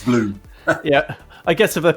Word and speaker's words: Blum: A lot of people call you Blum rather than Bloom, but it is Bloom.